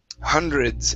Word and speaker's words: hundreds: the word excuse me hundreds instead of ha Han hundreds it's h hundreds try that there you go